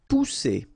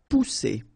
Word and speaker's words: pousser: Pousser. Alright, remember, one vowel, and then double S here. So the sound that you should produce is really strong. It's S, okay? Pousser.